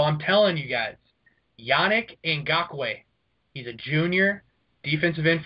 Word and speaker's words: Ngakoue: Josh just killed the pronunciation there. Can we hear that again? Can you do it again? Yannick Ngakoue.